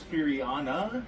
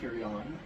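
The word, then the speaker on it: Furyan: It's Furiana, apparently. Not Furion. Furiana.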